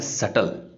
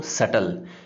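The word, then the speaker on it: subtle: Next अपने पास word जो है वो है सटल। यहाँ पे ध्यान रखें, बी लिखा जाता है लेकिन बोला नहीं जाता। क्या बोलते हैं इसको, सटल। फिर से प्रोनाउंस कर रहा हूँ मैं, सटल।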